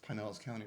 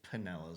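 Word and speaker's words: Pinellas County: I still pronounce Pineellis County wrong. How do you say it? Panellis County. It's Penllis County. That's what I said. Not pine. You're saying pine.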